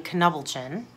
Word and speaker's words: Knubbelchen: This word is apparently German, and in German they pronounce the K, which would be Knubbelchen.